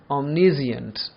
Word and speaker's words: omniscient: It means to know, but the pronunciation is omniscient.